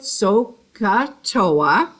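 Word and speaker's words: SOHCAHTOA: why we have these initials here uh we pronounce it soca toa and we'll probably have this on the board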